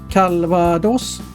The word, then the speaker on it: Calvados: Först och främst uttalet av drycken. Jag gjorde inte fel när jag uttalade S-et på slutet. Det kan vi tacka ordets spanska ursprung för.